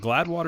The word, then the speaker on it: Gladewater: Wide receiver out of is it Gladwater? Is that how you say it? Gladwater, Texas? Gladewater, Florida, or Texas. Yeah, that's right.